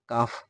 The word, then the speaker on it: calf: যেমন CALF, কালফ না বলে আমরা এটাকে বলবো কাফ, যার অর্থ হচ্ছে বাছুর।